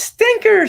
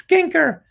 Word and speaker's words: Skinker: again I I forget rhymes with kinker yeah it's stinker sweetie no I'm sorry it's skinker back at skinker shop